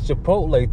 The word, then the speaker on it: Chipotle: holla did it again i said it wrong it's chipotle two orders six point